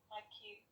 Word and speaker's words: maquille: maquille Remember, there's no accent on the final E. maquille Very beautiful.